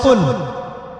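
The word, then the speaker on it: قُلْ: হচ্ছে বলুন কিন্তু কিন্তু আপনি যদি কফ এর মাখরাজটা ভুল করেন এবং কফ না বলে আপনি ছোট কাফ পড়েন এবং কুল না করে আপনি কুল পড়েন বলেন যে কুলহু আল্লাহু আহাদ তাহলে অর্থটা পরিবর্তন হবে অর্থ দাঁড়াবে খাও আল্লাহ এক এবং অদ্বিতীয় আমি কি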